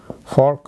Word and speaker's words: Volk: V in German language is pronounced as fa, fa, fau. For example, folk. Folk means people.